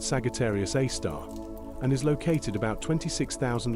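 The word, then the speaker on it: Sagittarius A*: It is named Sagittarius A asterisk, pronounced Sagittarius A star, and is located about 26,000 light-years from Earth in the direction of the Sagittarius constellation.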